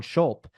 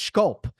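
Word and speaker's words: Zandschulp: for a year and it became Von desan schul and right away it's like the comments are like nope it's schulp and I'm like okay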